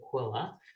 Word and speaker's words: QLLA: They pronounced it Quilla. It's Quechee Lakes Land Association.